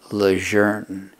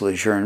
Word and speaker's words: Lejeune: is important that people too many people are mispronouncing the name of this base it's camp lejeune the 13th commandant of the united states name was john archer lejeune so you call the base lejeune because that was his name a lot of